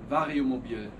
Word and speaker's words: Vario Mobil: How do you pronounce this? Vario. Vario Mobil.